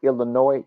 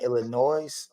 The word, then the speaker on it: Illinois: Chuck don't make sure when you pronounce the word Illinois you do not use the S don't don't use the